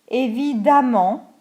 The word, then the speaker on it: évidemment: Mais on le prononce de la même façon. Exemple, constant, ANT pour l'adjectif, l'adverbe constamment, constantly. Courant, ANT, couramment, A2MENT, fluently. Différent, ENT, différemment, differently. Évident, ENT, évidemment, obviously.